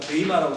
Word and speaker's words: bema: 그 BEMA하고 발음 뭐 베이마라고 보통 하는데, 베이마가 뭐냐면 학교 다닐 때 그 초등학교나 중학교나 다니면 이렇게 조회라는 거 하지 않습니까?